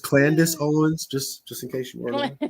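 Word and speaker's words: Candace Owens: right there yeah Urban housing it's uh it's pronounced Candis Owens just just in case you let's see what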